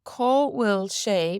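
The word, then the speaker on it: Cá bhfuil sé: So caw will she means where is it? Caw will she. Caw will she. Now again, remember we said that BH should be pronounced like a V, so it could be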